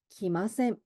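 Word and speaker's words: 来ません: 기마셈, 기마셈. 맞습니다. 우리 응이 끝으로 가면 약간 이응 소리와 니은 소리의 좀 중간 정도 소리가 나거든요. 그래서 기마생, 생 이렇게 이응으로 발음하셔도 나쁘지 않지만 기마셈, 기마셈 약간 요런 뉘앙스예요.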